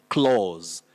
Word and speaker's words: clause: this word you say clause clause that is a and u represent the long sound o so say the clause